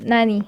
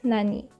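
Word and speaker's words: なに: by particles or nani gene it is called nani or it is pronounced as nani that's all thank you for watching and listening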